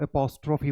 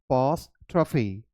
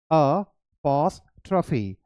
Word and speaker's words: apostrophe: pronunciation बहुत लोग गलत करते हैं, इसे वो apostrophe बोलते हैं. The right pronunciation is apostrophe. One more time, apostrophe.